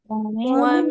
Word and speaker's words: ومن: شر حاسد إذا حسد আচ্ছা অমিন হবে না ওয়াও জবর ওয়া হবে ওয়া ওয়া ঠিক আছে ومن شر حاسد إذا